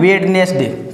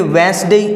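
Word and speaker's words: Wednesday: तो इसको कैसे पढ़ेंगे, इसको पढ़ेंगे वेंसडे या फिर वेंसडे। ये जो डी है वो तो साइलेंट है ही, तो इसको कैसे पढ़ेंगे, वेंसडे, वेंसडे, वेंसडे, न कि वेडनेसडे।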